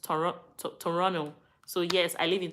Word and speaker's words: Toronto: in Toronto so yes they said it's not pronounced Toronto it's pronounced toron Toronto so yes I live in Toronto when I have enough money H Canada how